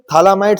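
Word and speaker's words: phthalimide: Synthesis P थैलामाइड synthesis P यहां पर silent है। ठीक है? थैलामाइड synthesis. तो यहां पर sir Gabriel थैलामाइड synthesis Gabriel थैलामाइड synthesis से पहले मैं आपको क्या सिखाना चाहता हूं?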